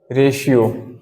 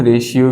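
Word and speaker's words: ratio: क्या हो जाएगा बताइए रेशियो इसे हम रेशियो भी कहते हैं और रेशो भी कहते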